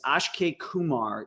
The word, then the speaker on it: Akshay Kumar: So I believe the correct pronunciation is Akshay Kumar.